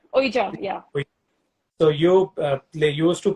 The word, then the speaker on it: Ouija: I think it's pronounced as Ouija, if I'm not wrong. Ouija, yeah.